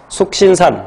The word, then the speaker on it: 숙신산: 4번, TCA로 해서 FADH2가 생성되는 과정은 숙신산, 뭐 석신산이라고도 발음해요.